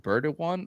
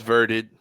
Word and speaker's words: Verded: Is it Birded one or Birded? Uh, it's Verded.